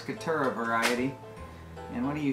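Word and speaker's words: Caturra: mellow fully washed cutter you know roll your r's 2 r's couture a variety and what do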